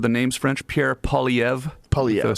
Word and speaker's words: Poilievre: Poilievre. Sort of a weird R, silent R.